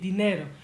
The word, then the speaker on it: dinero: The word is spelled dinero, but pretend it is spelled like this instead, and your mouth will have an easier time saying it. Dinero, dinero. Pretend you're saying the name Dean, like Dean Martin or the dean of the school.